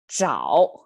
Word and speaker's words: 找: sound pronunciation over there, which signifies you have to kind of curl up your tongue to make it 找 versus the other one is 早.